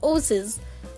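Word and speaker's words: oases: जैसे मान लीजिए ओसिस है, इसे पढ़ा जाएगा ओसिस, ओसिस, राइट, बस पीछे थोड़ा ज़ का साउंड होगा, राइट।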